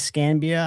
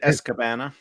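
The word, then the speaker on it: Escanaba: Is Scambia? I don't think I pronounced that right. Is it Escabana? Escabana, Michigan. Escabana. That is exactly right.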